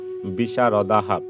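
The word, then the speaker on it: বিশারদাঃ: তাহলে দেখো যুদ্ধ বিশারদা এর শুদ্ধ সংস্কৃত যে উচ্চারণ সেটি আমরা পেয়ে যাচ্ছি যুদ্ধ বিশারদাহা।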